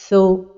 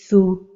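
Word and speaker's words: ثُ: Avec la voyelle dhamma, les erreurs de prononciation sont d'emphatiser la voyelle comme ceci, tho, ou bien de l'amincir comme ceci, thu, et la prononciation correcte est thu.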